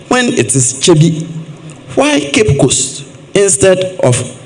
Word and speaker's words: Kyebi: Why still spell it Kibi when it is Kyebi?